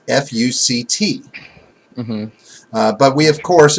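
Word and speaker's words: FUCT: of society the name is supposed to be pronounced fu c t mm-hmm but we of course immediately when you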